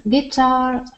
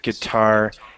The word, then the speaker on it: guitar: U is not pronounced before after G and before a vowel. Guess, guidance, guitar, guest. Okay. Guess, guidance, guitar, guest.